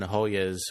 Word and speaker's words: Hoya: So they brought the Georgetown Hoyas over to, is that how you pronounce it? Hoya?